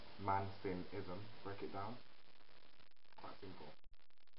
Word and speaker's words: Mancinism: sort of bias to left sidedness and it's pronounced manism not manism or manism or manism I think people got